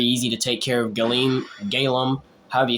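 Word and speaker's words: Galeem: to take care of galim galum however you say his name I believe it's galum yeah it's galum because I said Gleim which is the the other guy that I XO he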